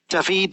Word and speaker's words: Давид: Often called David by his friends and teammates. He's naturally had a slight anglicising of his first name as he lives in the United Kingdom, but David, the traditional Bulgarian pronunciation.